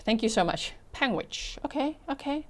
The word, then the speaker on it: Panguitch: I live in Utah, in the town you weren't sure about is pronounced Panguitch. Thank you so much. Panguitch.